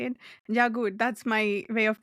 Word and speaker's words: Jagut: Jagut. That's my way of pronunciation.